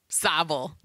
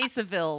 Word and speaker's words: Savile: to be talking about Jimmy sevil sa sa savel I used to say sevil like the first year is sable my bad uh no I